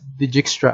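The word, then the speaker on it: Dijkstra: right so we call it the jigstra it's pronounced as digixtra algorithm okay spf algorithm all right so ospf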